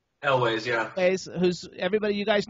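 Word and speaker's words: Elwes: Is that how you pronounce his last name? Elways? Elways, yeah.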